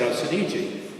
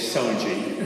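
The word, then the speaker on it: Soneji: guess and they said how do you pronounce Gary s-o-n-e-j-i and I said else in Egypt so of course in the movie It's soji So as a follow-up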